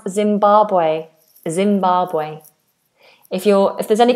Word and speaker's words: Zimbabwe: And how do we pronounce Zimbabwe? Zimbabwe.